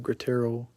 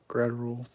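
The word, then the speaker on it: Graterol: I've always pronounced his name Gratterol, and it's literally Gratterol.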